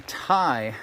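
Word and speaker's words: Tye: it in later so this is the thai i think it's spelled t y e river let's see what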